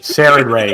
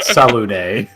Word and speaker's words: Saren Ray: Saren Ray, not Salune.